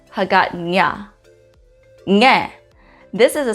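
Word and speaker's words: Hagåtña: You'd see this in the capital of Guam, which is Hagatnya. So in that case, you wouldn't pronounce it Hagatna, Hagatnya.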